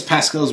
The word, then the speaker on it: Pasquale: What is Pascale's wager? He can find Armitage before you, thus releasing you. Of, That's how you pronounce it.